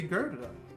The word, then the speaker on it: Gerda: She is pronouncing it right. It's supposed to be Gerda.